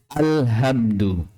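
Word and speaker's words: الحمد: Jika 'alhamdu' dibaca dengan 'ha' ini, artinya kehancuran total. Alhamdulillah. Segala kehancuran adalah untuk Allah. Ini sangat, sangat menyimpang. Padahal yang benar adalah 'ha', yang dibaca dengan 'ha' yang makhraj-nya akan kita pelajari nanti. Ha. Alhamdu berarti segala puji. Ya, jika ' alhamdu' menggunakan 'ha', itu berarti segala puji hanya milik Allah.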